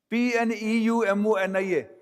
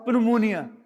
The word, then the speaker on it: pneumonia: P n e u m o n i a. But you don't pronounce as pmonia. You pronounce as pneumonia.